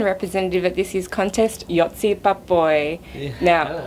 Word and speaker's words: Joci Pápai: by the Hungarian representative at this year's contest, Joci Pápai. Now, how did I do with the pronunciation?